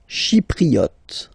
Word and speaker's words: Chypriote: Chypriote. Remember this Y is pronounced like I, okay?